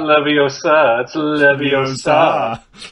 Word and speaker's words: Leviosa: was half and her it's Leviosa not levy else are see that's better than